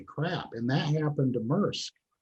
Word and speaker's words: Maersk: Am I pronouncing it right? SAC? What's the big Maersk? Maersk, there you go.